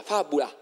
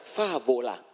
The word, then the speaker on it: fabulam: No, la M finale non si pronunciava e la A ultima si allungava, fabula. D'accordo? Anzi, non fabula, perché c'era la B che era V, era favola.